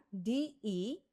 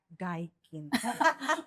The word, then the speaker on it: Deakin: Now, Oke, Deakin itu ya D-E-A-K-I-n. Jadi di pronounce-nya Deakin, bukan Daikin. it's not the AC ya Mbak Lina ya, Yeah. no Daikin ya. Deakin ya, Deakin, not Daikin.